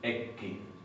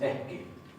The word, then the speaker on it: ekki: Por ejemplo, en la palabra eski tenemos una doble K, pero no pronunciamos ekki como si fuera en noruego. Pronunciamos eski.